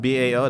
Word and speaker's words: bow: Is that BAO? The bow? Is that the bow of a ship? That's how you say it.